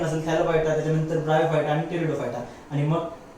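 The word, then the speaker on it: Pteridophyta: त्यामध्ये पहिली असते डिव्हिजन थॅलोफायटा, त्याच्यानंतरची डिव्हिजन ब्रायोफायटा आणि त्याच्यानंतरची डिव्हिजन असते टेरिडोफायटा. टेरिडोफायटाचं स्पेलिंग पी पासून सुरुवात होईल, पी सायलेंट असते, टेरिडोफायटा.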